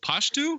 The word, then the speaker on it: Pashto: Chevy Chase pulls out this booklet that's of conversational Pashto.